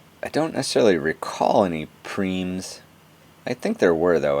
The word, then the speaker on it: prime: prime P R I and II but it's pronounced cream at least as I know it so what